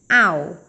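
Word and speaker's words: hour: Ow, ow là giờ, cái âm hờ này bị câm nha các bạn, chúng ta không phát âm ra khỏi miệng.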